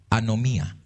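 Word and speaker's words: ἀνομία: la palabra es G 458 y Cómo se pronuncia anomía Eso significa Obrador de maldad anomía entonces Cristo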